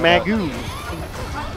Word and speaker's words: Mago: I always get thrown off when you call him Mago. I love that name for him. I heard that in Canada. They're like, this is the right pronunciation. I was like, all right, Canada.